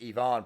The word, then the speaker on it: Ivan: before we talk about Ivan provorov which of course is pronounced Yvonne provorov and Russian I want to tell